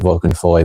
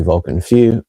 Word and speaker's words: Vulcan Feu: But today going to be doing genuine like overall reviews of Vulcan Few or I think some people pronounce it Vulcan Foy but I've heard it's pronounced properly Vulcan Few by French Avenue.